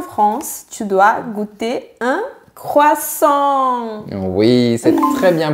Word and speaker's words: croissant: Donc, on a croix et sur la fin, on a la syllabe en. Croissant.